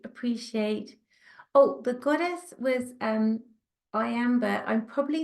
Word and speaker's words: Iambe: Oh, the goddess was Iambe. I'm probably not pronouncing her right. I will put it in the chat. It's as in iambic pentameter, which is what Shakespeare used to write in, like written form.